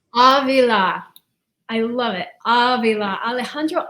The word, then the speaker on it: Avila: Avila. Avila.